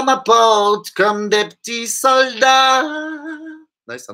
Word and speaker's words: porte: Alors, aqui ela não pronuncia o E, né? Porque não bate, né? Então fala normal, porte.